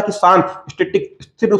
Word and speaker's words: cache: में क्या लिखते हैं, इसको लिखते हैं CACHE, लेकिन उसका उच्चारण कैसा होता है, कैश मेमोरी।